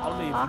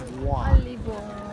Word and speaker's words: au revoir: Not olive, not olive. Au revoir.